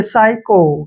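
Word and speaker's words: psycho: जब भी एस से पहले पी आता है तो पी का प्रोनंसिएशन हमने वहां नहीं करना है और जब भी एस वाई इकट्ठे आते हैं तो उसको हमने पढ़ना है साई ऐसे साई का उच्चारण करेंगे ठीक है और सी एच का उच्चारण क करें और ओ को हम ओ की मात्रा पढ़ेंगे देखिए साइको क्या हो गया साइको साइको होता है एक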